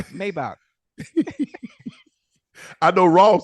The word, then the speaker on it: Maybach: The way the Germans, the engineers, and the way the Mercedes, yeah, they pronounce it Maybach. We ain't in Germany. We in the USA. Maybach.